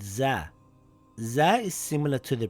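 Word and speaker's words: ز: Za makes a similar sound in English to the letter Z in the word buzz or the word zoo.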